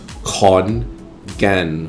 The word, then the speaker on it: Khon Kaen: KH, for example, is pronounced with an aspirated And if you see the K alone, then it's pronounced with a very weak G sound, guh. So, the name of Khon Kaen is Khon Kaen with a weak G sound.